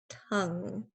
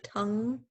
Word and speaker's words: tongue: okay so rolls rolls it rolls off my tongue notice the at the end of tongue hmm it just rolls off my tongue all